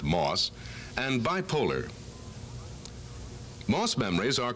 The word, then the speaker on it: MOS: semiconductor memories are available metal oxide semiconductor or M O which is pronounced moss and bipolar Moss memories